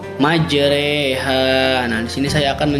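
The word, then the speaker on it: مجراها: Nah, di sini dibacanya itu bukan majroha tapi majreha.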